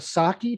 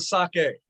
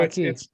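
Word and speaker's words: sakki: The Cecchine, not to be confused with sake. Sake? Maybe you need Sake both. is the drink, the sake is the test. So Saki. it's SAKI and not SAKE.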